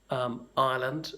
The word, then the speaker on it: Ireland: Ireland, where I come from, comes out more like an A as the first letter than an I.